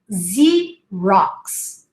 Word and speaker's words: Xerox: in english has got especially when it starts a word and we say z rocks xerox but then a proper